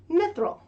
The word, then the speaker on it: Mythril: this is how you say my name miss mithril can you say mithril mithril excellent okay so that's what you can